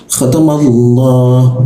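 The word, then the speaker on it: خَتَمَ اللَّهُ: Nah, kedua adalah huruf lam. Perhatikan, hati-hati huruf lam, pengucapannya harus posisi lamnya kurang lebih berada di ujung lidahnya, menyentuh bagian dalam sini, ya. Khatamallah.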